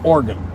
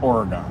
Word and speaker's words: Oregon: I guess the correct pronunciation is organ, not Oregon. Like it's it's two syllables instead of three.